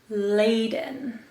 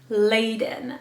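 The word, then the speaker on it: Ladon: and rolls right off the tongue so beautifully laden laden is felt l-a-d-o-n and is predominantly used for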